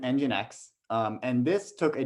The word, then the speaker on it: nginx: ever seen that before you pronounce it engine x um and this took